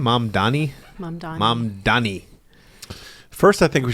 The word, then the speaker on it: Mamdani: You want to do the Ukraine one first, or should we do the Trump Mamdani or Mom? How do you say his name? Mamdani.